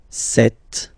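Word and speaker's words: cette: So you can notice that phonetically, these two are pronounced the same way.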